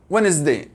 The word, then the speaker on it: Wednesday: أيضا Wednesday يأخذون أول ثلاث حروف Wednesday الدي ما ينطق أو ما يلفظ لكن Wednesday نلفظها.